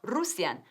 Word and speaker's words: Russian: ¿Y cómo estoy pronunciando la palabra ruso? Russian, no Russian. Russian. Como nuestra palabra para la hora punta. Rush hour, Russian. Rush, tiene una SH.